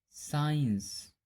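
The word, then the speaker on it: science: Rule number, जब एस के बाद सी आता है तब सी का उच्चारण नहीं किया जाता है। जैसे असेंट, साइंस, सीन, डिसाइपल।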